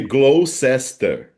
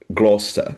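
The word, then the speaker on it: Gloucester: E por exemplo, eu eu fiquei dessa vez em Kensington na Glosta Road e se escreve Glow Sester, né? Glow Sester. Daí, quer dizer, mas se diz Gloster, Gloster, mas exis outra prova também.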